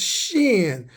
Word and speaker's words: shin: The W character is pronounced shin.